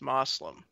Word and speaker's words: Muslim: When people say Muslim, I'm saying it the correct way. That's how it's pronounced, Muslim.